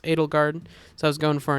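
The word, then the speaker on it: Edelgard: That name is pronounced Adelgard, so I was going for an Adelgard type pronunciation.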